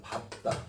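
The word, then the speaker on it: 밟다: 이거 어떻게 발음해? 이게 예외야. 밥다.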